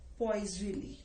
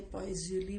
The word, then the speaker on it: Poiseuille: वो होते हैं बेटा, इसको हम बोलते हैं पॉइजली, ठीक है। पी एल से लिखते हैं इसको, इसके स्पेलिंग है POISEUILLE। तो इसको जो मर्जी बोल लीजिए, पॉइजली बोल लीजिए, पॉइजली बोल लीजिए।